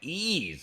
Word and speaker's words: Ys: YS is pronounced like ease.